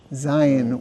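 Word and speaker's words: זין: Zion, which is a Z sound.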